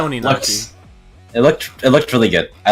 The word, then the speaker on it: Oninaki: were complaining about how hard it was to pronounce. Oh, Oninaki or Onakani? Oh, Oninaki, there we go. Or well, like something like that. It's Oninaki.